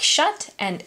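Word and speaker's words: จ๊ะเอ๋: And the jut A is pronounced like shut, and A in ABC is the exclamation that Thai people use when they play peekaboo with their children.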